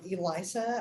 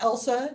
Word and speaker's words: Elisa: I have a name of Elisa. I've never had a good first day of school. Everybody always gets my name wrong. It's like Elsa now because of Frozen, or Elijah if they think I'm male, right?